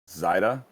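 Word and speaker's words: Seide: My last name is actually pronounced Zaida, and it literally is the German word for silk.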